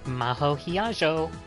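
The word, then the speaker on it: 比屋定真帆: Hiyajo Maho って読むの? Maho Hiyajo. Excuse me. Maho Hiyajo. 私の名前、Hiyajo Maho. 漢字でもローマ字でも誰も読めた試しがないから、先に言っとこわ。 That's my name, Maho Hiyajo.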